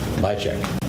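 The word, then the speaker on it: Byazek: Bychek.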